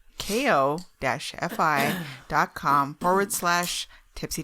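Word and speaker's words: Ko-fi: you before we have this kofi deka i think it's coffee i think you spell it i think it's coffee it's coffee coffee. they use cup of coffee isn't it yeah thing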